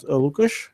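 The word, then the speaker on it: Łukasz: let's check a sound how does it sound lucash uh so thank you very much for introduction um you pronounced my sname very well that's first thing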